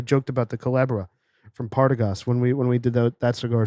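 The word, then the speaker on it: Partagás: You got to roll that R, baby. Partagas. Partagas. That's how they pronounce it there on the islands. Can you do it again? Partagas. Partagas. The accent on the third A.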